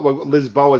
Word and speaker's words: Lisboa: Yeah, well, Lisboa is how I pronounce it, but yeah, Lisbon.